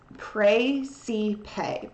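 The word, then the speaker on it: Praesepe: which is pronounced praise pray see pay praise to pay it's like literally like pray and then see and then pay like pay money um and it's right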